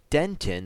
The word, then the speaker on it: dentin: all of it will be studying roots pulp dent in that that word is pronounced dentin enamel and crown okay so I